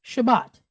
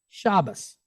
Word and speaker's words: Shabbat: a Sephardic pronunciation it's Shabbat but if you use an Ashkenazi pronunciation it's Shabbos okay o s instead